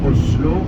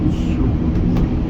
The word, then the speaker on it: Oslo: imperceptible c'est pas pas on dit pas Oslo on dit ouslo mais c'est pas un